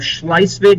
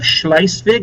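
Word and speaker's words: Schleswig: They defeated Denmark and took the pro the northern provinces of Schlicevig and Holstein. I'll spell it for you. They defeated Denmark. It's like beating up a third grader. And took the provinces of Schlicevig and Holstein.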